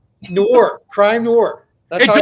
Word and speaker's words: noir: Noir, crime, noir. That's It doesn't rhyme with manure. IT'S NOIR.